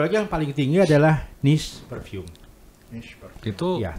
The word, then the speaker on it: niche: Nah satu lagi yang paling tinggi adalah niche perfume. Niche parfum. Itu Iya. gimana? Tulisannya NICHE, niche. Aha.